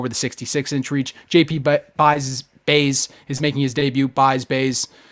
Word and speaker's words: Buys: JP Buys is making his debut. Buys. It's a last name. It's very it is Bays. It is the way you pronounce it. It is Bays.